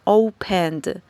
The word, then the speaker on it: opened: que hacemos Es que no pronunciamos la e sino que esta última sílaba la pronunciamos uniendo la n con la d es decir esta e